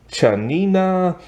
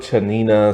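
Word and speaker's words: Tsianina: varia is played by chanina Jolson and so like it's fine because her name is spelled with a t like her name is spelled t-s-i-a-n-i-n-a and that doesn't look like chanina and everything but hey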